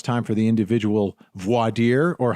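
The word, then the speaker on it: voir dire: questioning and now it's time for the individual Vader or how do you say it Julia vad depends on the person depends some people say vire down in Texas but um so in this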